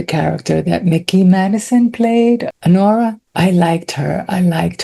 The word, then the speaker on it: Anora: yeah, I got to see Anora, which rhymes with my name. Anora.